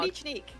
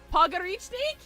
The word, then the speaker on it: Pogranichnik: Pogranichnik. Pogranichnik.